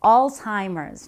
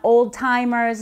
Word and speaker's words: Alzheimer's: you talk about Alzheimer's that's how you pronounce it Alzheimer's not old timers not Alzheimer's it's Alzheimer's disease so what is normal